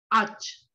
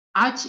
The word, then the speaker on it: ağaç: Jadi G bertanduk itu nggak dibaca. Jadi langsung aja alj. Ağaç itu artinya pohon. Oke? Jadi G bertanduk itu nggak dibaca. Jadi langsung aja ağaç. Ağaç itu artinya pohon.